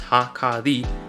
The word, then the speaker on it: Hakari: And as usual, if you have any problems with how I pronounce Hakari, as in like na-na-mi or ha-na-mi, I have a video posted with a linguistics tutorial on my page.